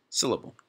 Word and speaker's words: syllable: Word, one, has one syllable. You hear it? Syllable. Syllable. There's three syllables in the word syllable, but it's the first one.